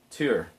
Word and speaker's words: Tyr: out all right so tear or two or tear different pronunciations for the same figure one of the chief